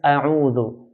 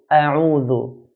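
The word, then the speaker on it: أعوذ: Alif is pronounced from the bottom part of the throat, bottom part of the throat, and ayn from the middle part. So then u, a'u, not a'u, but a'u.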